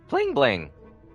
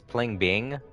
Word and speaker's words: Pling Bing: televisions what's that oh bling bling i always pronounced his name wrong it's pling bing but i always kept calling him bling bling over bro